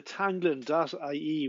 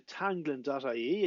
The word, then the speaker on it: teanglann: so this is a web browser showing the tanglon.ie website so all you have to do to find the site is go to tanglon.ie and you'll see it's spelt here t e